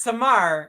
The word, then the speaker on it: Samar: So Arabic name, it's Samar. In saying in Urdu, it's summer. no, it's pronounced the same in Urdu and Arabic.